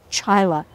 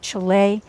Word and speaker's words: Chaila: Or when Irish rap artist Denise Chyla zings her listeners, it's not Chile, it's not Chalala, say my name.